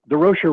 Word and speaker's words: Durocher: And Leo says, "No, but Durocher rhymes with kosher."